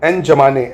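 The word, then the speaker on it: N'Djamena: ऐसे ही चैड की राजधानी की बात करें अगर तो एन जमाने एन जमाने एन जमाने है ना डी साइलेंट है।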